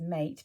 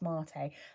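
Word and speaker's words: maté: middle notes of white tea white iris and mate i learned that recently and last one i read it as mate because that is how it's felt but apparently it's pronounced mate and it's a type of tea so there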